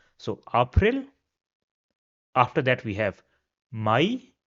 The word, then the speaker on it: April: After that we have April which is April. So the spelling is the same. The pronunciation is a little bit different. So, April.